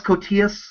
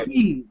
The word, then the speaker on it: Koteas: But I like this, especially, I like Elias Koteas. Am I pronouncing his name right? I think it's either that or it's Cotees. I think it's Cotees.